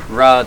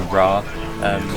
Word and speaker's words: Raz: We're on our way down to the Ras de Seine, written Raz but pronounced Ra apparently.